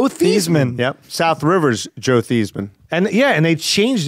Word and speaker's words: Theismann: This college changed the pronunciation because of his Heisman, Theismann.